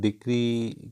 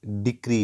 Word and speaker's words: decree: डिग्री होती क्या है एक्चुअल वर्ड जो हम इसको रंगली प्रोनाउंस करते हैं डिग्री कहा जाता है हालांकि यह एक्चुअल वर्ड डिक्री है ऊपर आपको सबसे पहली